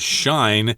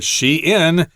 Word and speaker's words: Shein: Uh if you don't know that, you would probably read that as shine using German pronunciation sensibilities. But here she in and Teemo.